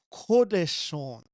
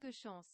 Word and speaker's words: Coup de Chance: Coup de Chance, I believe is the pronunciation.